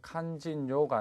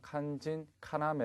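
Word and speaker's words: 肝心要: 일을 꼭 하시기 바랍니다 칸 진 요가 아니라 간 진 카나메 라고 발음을 하셔야 됩니다 그렇죠 처 다음 183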